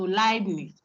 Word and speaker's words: Leibniz: harmony by Leb, I, EI is I, like Einstein. Okay, I. Pronounce it okay, as if it's LAI. So Leibniz.